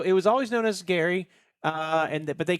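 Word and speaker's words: K'gari: I booked us a 2-day adventure to Gary, which is spelled Kgari. The K is silent.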